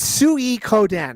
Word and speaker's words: Suikoden: It's Sui Koden, right? Yes, yes. The Japanese pronunciation is Suikoden, right?